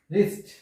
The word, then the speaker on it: wrist: তারপর হচ্ছে রিস্ট। রিস্ট, এখানেও ডাব্লিউ উচ্চারণ হয়নি।